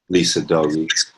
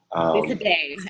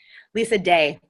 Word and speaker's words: Lisa Day: Lisa Day, actually. I'm sorry. Yeah, no, that's all right. She's our colleague who serves the UU Church in Nora. Pronounce it again for me, please. Lisa Day, as in Day. Okay. Not night.